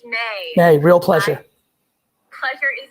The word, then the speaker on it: Mae: Or Mai. How do you pronounce it? Hey, Gary, good morning. It's May.